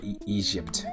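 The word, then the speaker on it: Ezhypt: i ever put on it was called egypt or egypt is how i should pronounce it e-z-h-y-p-t it was really cool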